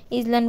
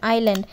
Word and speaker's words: island: তোমরা এটা অনেক উচ্চারণটা ভুল করো, ইসল্যান্ড বলে ফেলো, কিন্তু এটার উচ্চারণ হবে আইল্যান্ড, ISLAND আইল্যান্ড অর্থ দ্বীপ, আইল্যান্ড অর্থ হচ্ছে দ্বীপ।